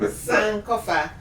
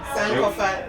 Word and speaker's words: Sankofa: The pronunciation is actually Sankofa, and Okay. it is See, I already Sankofa.